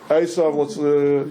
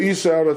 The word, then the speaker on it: Esav: Okay, for those of you who don't remember the whole narrative, these two fellows, Esav, you're pronouncing it Esau, that's a good English transliteration, let's use the Hebrew words.